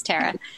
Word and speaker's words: Tara: My parents call me Tara. Tara sounds very regal, but it's Tara.